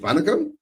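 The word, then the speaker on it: வணக்கம்: Is it Vanakam?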